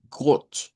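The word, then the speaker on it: Gott: Esta es una o corta. Entonces, por eso decimos got. Aquí estaría a lo que nos referencia got.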